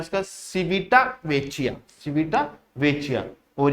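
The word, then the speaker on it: Civitavecchia: Next question आता है हमारे पास, नेक्स्ट क्वेश्चन है सिविटा वेचिया, क्या सिविटा वेचिया which was seen in the news is a city in which country.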